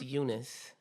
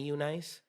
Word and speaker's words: Eunice: That's how it's spelled, but it's pronounced Eunice. I have to specific. I have to specify that because a lot of people when they see my name, they automatically call me Eunice, but my name is